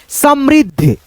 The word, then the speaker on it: समृद्ध: संयुक्त है तो आधा ध को द के साथ में कंबाइन करके जोड़ के क्रम में पढ़ना होता है। जैसे समृद्ध समृद्ध ध संयुक्त है जुड़ा हुआ है। समृद्ध इसमें द और ध का उच्चारण हो गया।